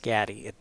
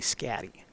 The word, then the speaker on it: Scatty: Last name is pronounced Scatty. It is not Shade, it's actually Scatty.